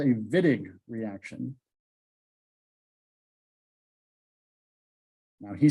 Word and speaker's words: Wittig: So the German pronunciation of W's with V's, like Volkswagen, makes more sense. So you just take the W, split it in half. This is the Wittig reaction. That's how you pronounce that.